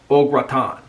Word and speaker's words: au gratin: in the united states we call it au gratin potatoes but it's actually ogratan that's the way you pronounce it okra oh graton i think i'm pronouncing it right i don't have the